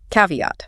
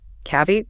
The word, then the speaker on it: caveat: And the stress is on the first one.